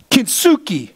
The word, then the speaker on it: Kintsugi: Kintsugi is how you say the word.